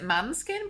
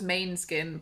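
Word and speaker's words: Måneskin: She pronounces it Manskin, but I thought it was Mainskin, but I don't know because I don't watch Eurovision.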